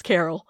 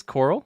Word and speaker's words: Coral: because the entire time i wanted to say her name was carol it is coral it's coral wow booker coral i'll